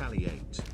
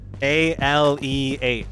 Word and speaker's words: Ale 8: It's a Kentucky only soda and it's not Ali 8. Is it Ale 8? What is it? A-L-E-8. Do you have to spell it?